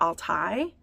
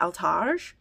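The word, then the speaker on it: Altaj: And yes, I'm changing how I say her name because apparently it's Neva Alai, not Alage.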